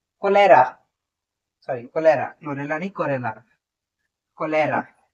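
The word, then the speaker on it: cholera: Vibrio में एक काफी कॉमन एग्जांपल आता है, आपने एक बीमारी का नाम सुना होगा, क्लोरेल कोलेरा, सॉरी कोलेरा, क्लोरेला नहीं, कोरेला, कोलेरा। मैं नाम लिख देता हूँ, प्रोनाउंसिएशन में थोड़ी प्रॉब्लम हो रही है।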